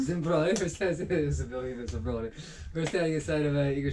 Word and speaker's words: Dzembronya: Dzembronya. Dzembronya.